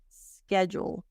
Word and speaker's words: schedule: this word SK now the D sounds like a j SK jeel Jewel like jewelry schedule and this is the